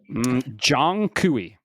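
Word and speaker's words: Zhong Kui: It's uh I'm I'm gonna take a guess. It's Zong Kui. I'm listening. Jong Kui. All right, that's close enough.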